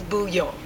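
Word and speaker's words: bouillon: not hearing that but how they say it is boo Yong it is a French word so that's that now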